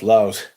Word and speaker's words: Laos: I've been told in no uncertain terms that it's pronounced Laos.